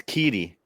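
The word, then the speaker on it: QIDI: How do you pronounce it, Brian? Kitty. Kitty. Well, actually Ron found or Dennis found out that it's I was saying cheaty, but Dennis, what did you say it was? Yeah, it's Kitty.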